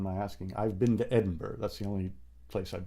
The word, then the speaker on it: Edinburgh: I've been to Edinburgh. That's the only place I've been in Scotland. I guess I should say Edinburgh, shouldn't I? We Americans say it improperly, don't we?